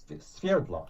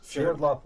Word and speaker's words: Sverdlov: Yeah, Sverdlov. Sverdlov is the actual pronunciation of my name, but of course in the United States they don't know how to say it.